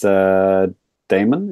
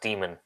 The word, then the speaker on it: Daemon: It's Daemon. Is it Demon or Daemon? Demon. I think it's supposed to be pronounced Demon.